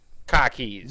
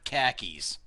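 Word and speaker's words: car keys: these are Cockys cockies so we're gonna educate you on how to say this properly now the way we say it is spelled k a ke Z so let's listen into this so let's listen into this little advertisement on how to say cockies not khakis welcome to Boston as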